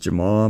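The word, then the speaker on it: Jamahal: another Aaron blanchfield rookie card I know it's pronounced Jamal but it's spelled jamaha so I'm gonna call him jamaha hill Armen suian who is this another Mana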